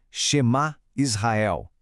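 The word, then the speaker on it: שמע ישראל: Por isso, vamos passar pela pronúncia parte por parte. A primeira parte é Shema Israel.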